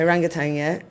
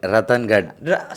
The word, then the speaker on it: Ratangadh: We went to Orangutan, Yeah. Is that how I pronounce it? It's called Ratangadh.